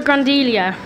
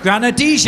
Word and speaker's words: Granadilla: They're called a grandelia. I think that's right. Can somebody pronounce, right.